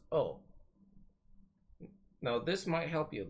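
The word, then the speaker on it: を: particles go are pronounced wah and wool is pronounced oh now this might help you then you might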